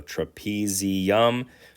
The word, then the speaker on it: trapezium: you could say trapezium but you say trapezium tre which rhymes with trapeze of thumb so trapezium trapeze thumb trap you